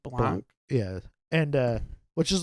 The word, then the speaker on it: Blanc: dude uh I'm uh I think people said blank but I think it's pronounced Blanc yeah and uh which